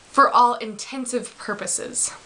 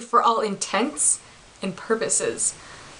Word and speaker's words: for all intents and purposes: even get this, is when people say, for all intensive purposes. So you're probably thinking, okay, what? What's wrong? That's not even the phrase, actually. The phrase is actually for all intents and purposes. So basically, your intention or your purpose to do something, but not your intensive purpose.